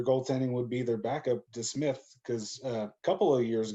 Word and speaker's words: DeSmith: I thought his name was just Smith, and I thought you were pronouncing it wrong when you're saying DeSmith. I thought there was something wrong there, but that's his freaking last name is DeSmith.